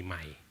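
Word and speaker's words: Mai: and uh son but easier for you to call me my it's easy for you to pronounce yes my nickname is my spelling m ai it's very related for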